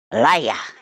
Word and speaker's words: Elijah: I pronounce the J as ya. Elijah.